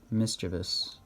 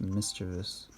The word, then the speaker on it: mischievous: and other mischievous stuff mischevous it's pronounced mischievous yes then Mario Luigi